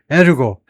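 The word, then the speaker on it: ergo: 에르고 라틴은 읽는 방법이 아주 쉽습니다. 이거 5는 항상 5예요. 그 아는 A는 항상 아고요. 그래서 에르고라고 읽으면 돼요.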